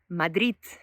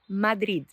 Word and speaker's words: Madrid: And the third one, finished by a T, Madrid, it's actually typical from people from Catalonia.